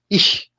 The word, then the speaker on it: ich: Primera persona del singular, ich, yo. Ich es yo. Esa CH suena como tiene un sonido fuerte, es como una J fuerte. Ich.